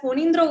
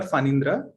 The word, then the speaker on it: Phanindra: Now I say Phonindra because I'm Bengali, but how do you pronounce it? So you can call me Phani or Phanindra. So Okay. yeah. In Bengali, the pronunciation is a little bit different, and that is something